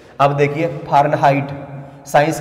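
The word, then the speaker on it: Fahrenheit: अब देखिए फारेनहाइट, science का वर्ड है फारेनहाइट, हाइट नहीं बोलोगे आप, हीट बोलोगे इसको।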